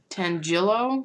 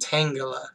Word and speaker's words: Tangela: Butchered the name again. Tangelo? Tangela.